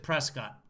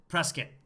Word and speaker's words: Prescott: our country okay so people with the actual name prescott pronounce it prescott and and for whatever reasons when they came to america the descendants they pronounce it presskit not prescott so press kit is what it is in america we are taking it